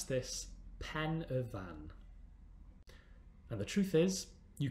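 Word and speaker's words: Pen y Fan: is it pronounced have a go yes we pronounce this pen a van and the truth is you can now even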